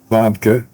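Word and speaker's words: Warnke: Now you we were talking about Vanka and I think the babble for Montgo and first of all is the combination of Vanka W A R N K E his first name was Christian.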